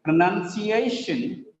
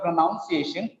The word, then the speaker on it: pronunciation: Pronunciation. It is not pronunciation. Actually, some people read as pronunciation. It is not pronunciation. It is pronunciation.